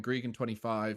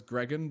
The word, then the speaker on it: Gregan: name so i named my character in game gregan25 because i was like i want to be like that wizard and it kind of just stuck from there but the problem is it stuck as gregan because so many people mispronounced it as greg